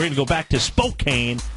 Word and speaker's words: Spokane: you absolutely we're going to go back to Spokane Spokane how do you say it Spokane Spokane yeah